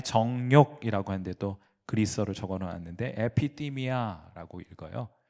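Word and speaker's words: ἐπιθυμία: 그래서 제가 거기 사람의 정욕이라고 하는데도 그리스로를 적어놓 놨는데 에피디미아라고 읽어요. 에피띠미아인데 그것은 정욕이라고 번역합니다.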